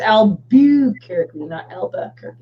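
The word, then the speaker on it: Albuquerque: lbu qu e r qu e so it's Albu Carrick yeah yeah I'd learn how to spell that okay without looking spell the capital of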